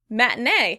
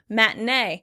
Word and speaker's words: matinee: Matinee. Matinee. In British English, it would be matinee. Matinee. And they would pronounce that T sound much better than I do as an American.